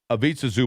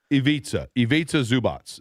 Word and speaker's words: Ivica Zubac: Ivica Zubac. Yeah. Did I say that correctly? Ivica Zubac.